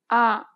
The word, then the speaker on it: 아: 아. Open your mouth wide as if you were at the dentist and relax your tongue. Then try to say ah.